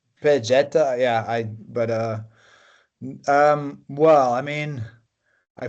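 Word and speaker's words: Ol Pejeta: I'm pronouncing this in Spanish, but maybe the Kenyan way of pronouncing is different. You can pronounce it however you want. I think people here say Old Pejeta, or some say Pejeta.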